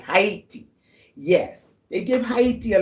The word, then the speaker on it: Haiti: Let's pronounce it right. Haiti.